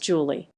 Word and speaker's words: July: named horis and Norris July pronounced Julie I just thought that